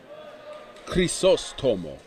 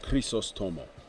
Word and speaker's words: Chrysostomo: Okay, we've got Chris Otomo. Yes, Chris Otomo, the American in white, versus Bélanger in blue, the Canadian. Chrysostomo, that's how you pronounce it, Chrysostomo in white versus Bélanger in blue.